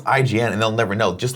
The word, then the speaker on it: IGN: like that's how it is then people go Egon and people that know it's IGN and they'll never know just like gif and